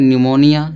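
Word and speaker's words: pneumonia: या P silent होगा। ठीक? इसको क्या पढ़ेंगे? निमोनिया।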